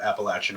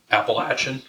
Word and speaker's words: Appalachian: I love Appalachian horror. Appalachian? Is that how you say it? They're both right.